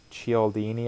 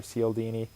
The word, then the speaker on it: Cialdini: And I was reading, if you've ever read the book Influence by, I think it's Robert Cialdini, I believe is how you pronounce it, or Cialdini.